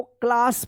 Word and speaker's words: class: यानी ए के बाद अगर डबल एस आता है तब भी इस ए का आ उच्चारण होता है।